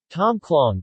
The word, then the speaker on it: Tom khlong: Tom clong Thai TM : pronounced Tom klo acute is a sour and